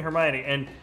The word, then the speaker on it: Hermione: Yeah, no, it's funny though, because I had a family friend who's British and was like, no, it's definitely Hermione, and I was told immediately right when I